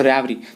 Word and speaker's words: revere: देखिए ये तो लिखा हुआ है रैवरी, ठीक है, लेकिन इसका जो असल में प्रोनाउंसिएशन होता है that is called वेरी, VERE, वेरी, ठीक है। ये जो RE है, ठीक है, ये फर्स्ट का जो RE है ये क्या होता है, साइलेंट होता है और इसे पढ़ा जाता है वेरी, लेकिन कौन जानता है,